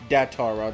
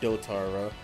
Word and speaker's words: Datara: Well, one, it's actually Datara, not Dotara.